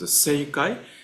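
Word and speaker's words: 政界: name uh in seai This is uh pronounced as seai. Se is politics and uh kai is world.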